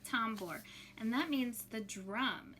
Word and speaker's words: tambor: tambor t a m b o r l tombor and that means the drum in spanish so we're gonna go over the pronunciation i need you to listen carefully before